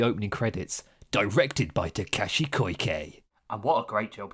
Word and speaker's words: Koike: Koike.